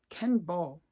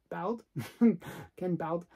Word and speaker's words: Ken Bald: An artist that actually I enjoy a lot is Ken Ball. Ken Bald. I can never pronounce his name properly.